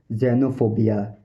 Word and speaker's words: xenophobia: Fear of strangers और foreigners, इसको बोलते हैं जेनोफोबिया, जेनोफोबिया, जेनोफोबिया, जेनोफोबिया, जेनोफोबिया, जेनोफोबिया, जेनोफोबिया, जेनोफोबिया, जेनोफोबिया, जेनोफोबिया।